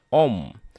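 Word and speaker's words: ॐ: Dan ketika simbol dari ketiga dewa tersebut digabungkan, maka akan menjadi Aum, dibacanya Om, yang merupakan simbol suci agama Hindu.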